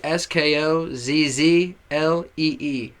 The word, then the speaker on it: Skozzlee: You can find me, Skozzlee, at Skozzlee, SKOZZLEE. Okay? SKOZZLEE. And the pronunciation, Skozzlee. That's it. It's not Skozzle, not Skozzlee, not Skozzlee. It's just Skozzlee. And if you can't say that, just say Skoz.